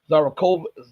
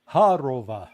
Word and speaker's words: Zakharova: So he is saying in words, and I remember hearing the foreign ministry spokeswoman, I can't pronounce her name, Zarakova, whatever. Khodorova. Yeah. Zakharova.